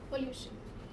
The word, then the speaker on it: pollution: Where is the stress in pollution? Above L. And why is it so? Because the last words, the last syllable is T-I-O-N, right? So over here, pollution, right?